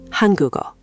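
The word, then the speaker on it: 한국어: The g at the end of guk slides over to the empty eo of eo.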